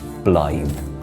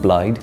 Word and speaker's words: Blaidd: I play BL in Elder ring so you pronounce it blly not blide not BL blly for those who don't know